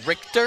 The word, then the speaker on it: Richter: Rector. So. Play who? Rector. Rector. Simon Rector. Richter?